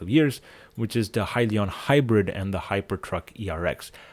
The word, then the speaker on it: Hyliion: talking about, which is Hyliion. It tends to rhyme with Hyzon, and many people tend to actually get them confused.